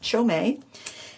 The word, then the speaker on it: Qiaomei: to Super Beauty and the rep from Paul Reuben said it's pronounced chomei and let's take a